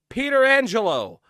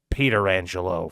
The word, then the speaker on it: Pietrangelo: Do your homework, because before Alex Pietrangelo, there was another Pietrangelo, Frank Pietrangelo, and that is how he pronounced it.